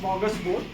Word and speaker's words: smorgasbord: And first of all, it's pronounced smorgasbord.